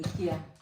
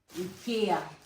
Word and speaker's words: IKEA: English people pronounce it IKEA, But Spanish people pronounce it IKEA. Because they used to, no, they used to say it E. in Spanish, E. so that's why it's IKEA.